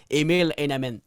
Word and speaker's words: Emil Heinemann: l'air que dans l'équation, le Canadien voulait absolument Emil Heinemann. Bravo, je pense que tu l'as bien prononcé.